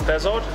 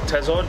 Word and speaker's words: thazard: Now, the frigate tuna, scientific name, Auxis Thazard, or Thazard, depending how you want to pronounce these, same as Thul and Thul.